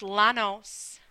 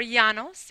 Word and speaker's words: Llanos: place in the pampas this word is pronounced Llanos Delano's or Janos if you're speaking Spanish are located towards the